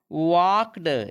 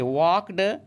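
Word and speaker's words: walked: वाली थी ही वह वाक्ड देखिए इसमें ल साइलेंट है इसको वाल्क नहीं पढ़ेंगे वाक्ड बैक होम वह घर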